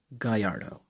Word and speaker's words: Gallardo: just to make something clear Gallardo is actually pronounced Guyyardo and Gallardo is Spanish for dashing or gallant